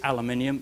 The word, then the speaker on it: aluminium: into rat brain it by the way is aluminium your Yanks mispronounce it Alcoa made a spelling